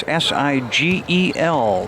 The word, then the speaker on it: Sigle: Hicks and back to Siggle. That's si gel rhymes with wiggle and his team is holding a three-point lead.